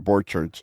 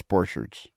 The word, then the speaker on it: Borcherds: your last name correctly it's not Borchard it's poor shirts it's boards if